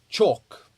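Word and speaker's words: CHoCH: Then we have chalk. Okay, it's spelled ch H O C H. Um and this stands for change of character.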